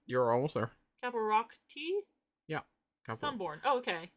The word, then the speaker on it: Caparocti: Caparocti?